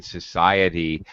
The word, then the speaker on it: society: uh okay um Yeti I have an i and the e in society but I don't pronounce them together I Bridge them and in English we